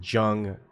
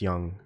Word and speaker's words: Jung: bit of car yung-chun it's called young young but people Papa Lee's pronounce it as Jung the wrong way but it's young so I wanted to